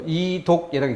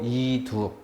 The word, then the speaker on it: 이두: 그래서 이독이라고 읽지 않고 이두.